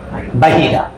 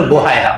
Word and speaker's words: বাহিরা: বাহিরা। অনেকে বলে বোহায়রা, বোহায়রাটা ভুল উচ্চারণ। ওনার নাম হলো বাহিরা।